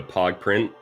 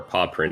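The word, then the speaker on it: Pawprint: That means when they go to Pog Print, or Paw Print if you want to pronounce it the right way, it is going to be 3 checks that it can get right now.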